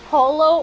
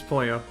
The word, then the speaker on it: Pollo: Is it pronounced Polo or Pollo? It's Pollo. Named him Chicken.